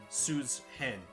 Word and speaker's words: Susan: Susan, I want you to gather. That's honestly how it's supposed to be pronounced, isn't it? It's Suzanne. Susan.